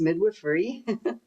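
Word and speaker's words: midwifery: So, and that so that's how you pronounce it. It's midwiffrey.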